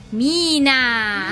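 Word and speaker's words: Meena: teatro lei è Mena mina mina mina che si scrive Mena si legge Mina No non Mena lei Mina attaccare sulle matite Ok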